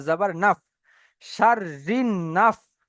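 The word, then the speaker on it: شَرِّ: বুঝতে পারছি আমরা কেন প্রথমে রটাকে শিনের সাথে যার জুড়ছে। তাহলে শিন র, এই শিন র জাবার সার হয়ে যাচ্ছে। তারপর রটা আলাদাভাবে উচ্চারণ করতে গিয়ে দেখছি তারপরে নুনের উপর আবার তাসদিদ চলে এসছে। মানে এই নুনটাকেও ওই র সাথে জুড়িয়ে পড়তে হবে। তাহলে র নুন জের রিন, সার রিন।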